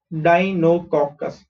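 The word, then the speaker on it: Deinococcus: Okay how do pronounce this, D ई आई डाई, एन ओ इज नो, COC is cock, CUS is cus, Dinococcus.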